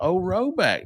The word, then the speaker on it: Rhoback: Don't forget about Roback.